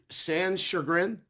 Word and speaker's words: Sanschagrin: make sure I'm pronouncing your last. It's Sanschagrin.